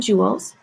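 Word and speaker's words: joules: force to move an object it's measured in Jewels um that's how this word is pronounced it's abbreviated with an uppercase j the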